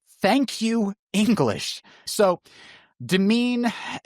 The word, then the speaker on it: demesne: probably read it as Demenses. Uh, and that's also incorrect. Yes, the S is silent. Thank you, English. So, demean has almost the same pronunciation and almost the same meaning as the word domain as in like see